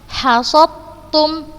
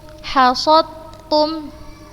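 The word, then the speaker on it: حصدتم: Kita lihat di sini huruf dal sukun bertemu dengan huruf ta yang berharokat. Jadi kita bacanya langsung ke huruf yang kedua dan membacanya tanpa gunnah. Ustazah contohkan yang ini, hasottum, hasottum. Langsung Ustazah masukkan ke huruf yang kedua yang berharokat dan Ustazah bacanya tanpa gunnah.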